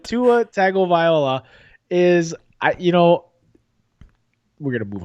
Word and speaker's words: Tagovailoa: He doesn't play a viola. His name is Tagovailoa.